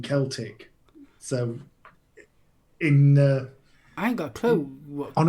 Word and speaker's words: Celtic: ya no no cuz I pronounced it as Celtic rather than Celtic so in anger play